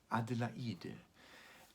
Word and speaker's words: Adelaide: it already anticipates dadaism beethoven was fascinated by the five syllable name adelaide and in the poem at the end of every verse this word adelaide comes twice and beethoven always takes this five-syllable sound object to create new rhythms new harmonies new um shapings um and he really played with the sound of these five syllables that that's a very